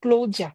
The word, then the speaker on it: Claudia: Euh, il y a maman Claudia qui a dit, je vais le prononcer en allemand, Claudia, c'est ça, non?